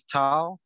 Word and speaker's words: tau: the next one is tau and it's um it's a t sound a short t yeah it's an unaspirated t so just as in